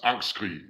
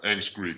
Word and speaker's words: Angstskrig: It's Angstskrig in Danish, but yeah, Angstskrig is cool. Okay. So, and then is the band name actually your name, or do you have a name? Uh, Angstskrig is a collective, so Angstskrig is both our names.